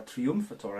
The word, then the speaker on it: Triumphator: So this particular beer is their Triumphator, or Triumphator I guess you would pronounce it in German.